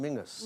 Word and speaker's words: Menzies: And you have Menzies up in Scotland, which is pronounced Mingus. Mingus, yeah.